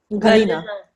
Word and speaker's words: Galina: Unless you're Galina, who's like, is that how I say it, or is it? How do you allowed to pronounce her name? Galina.